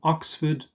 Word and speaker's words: Oxford: you crossed the river, a ford in German, Furt, but this is just pronounced as fud here. So Oxford, Bedford, Stratford.